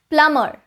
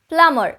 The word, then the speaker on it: plumber: Plumber. Plumber. It is oftenly mispronounced, especially in India, as plumber. People don't realize that the B in this spelling is silent. So it would be plumber and plumbing and not plumber and plumbing.